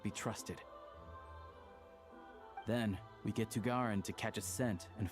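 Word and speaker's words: Tighnari: Oh, Tagarin, that's how you say it.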